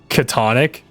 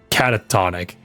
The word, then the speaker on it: catatonic: It's not pronounced katonic breakdown. I don't know how nobody's ever corrected me, but I think it I think it's pronounced catatonic breakdown or something.